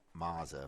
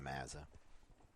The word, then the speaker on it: Mazza: that correctly all day it could be Maza but I believe it's going to be Mazza wearing Wayne Gretzky's 99